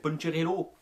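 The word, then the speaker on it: Poncherello: Alors punch, c'est rien à voir avec la boisson, hein, le punch, non, ça s'écrit pas pareil, hein, c'est Puncherello, tu vois, c'était Francis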